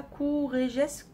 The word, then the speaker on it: Courrèges: Comment tu prononces ça? Courrèges.